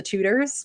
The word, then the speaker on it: Tudors: For those of you who don't know, that's spelled Tutors. She's not talking Try again. Tutors. Try again. Really? Try again. Tudors. They're not teaching people math. They are tutors.